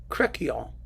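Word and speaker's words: Crecquillon: just look at that you pronounce it c-r-e-c-q w-i-l-l-o-n cracio okay whatever and this is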